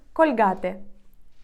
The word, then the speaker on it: Colgate: цей бренд також Отже зубна паста colgate іспанці скажуть кульгати кульгати colgate наступне цей бренд ми